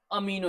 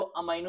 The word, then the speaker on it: amino: अमीनो acid से। अब अमीनो acid बोलो, अमाइनो एसिड बोलो, आपका प्रोनाउंसिएशन आप जैसे बोलना चाहो, आपकी मर्जी।